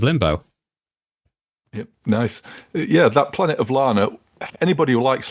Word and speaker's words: Planet of Lana: No, Planet of Lana, isn't it? I always get the name wrong. I say Planet of Luna, or I keep getting that wrong. But yeah, Planet of Lana.